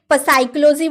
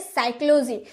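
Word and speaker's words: psychology: क्या आपने कभी प साइकोलॉजी बोला है? प साइकोलॉजी नहीं ना। क्योंकि पी तो चुप रहता है। हम बोलते हैं साइकोलॉजी।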